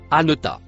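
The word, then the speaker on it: أنت: On peut le traduire par les deux mots ce que le premier mot violet se prononce anota.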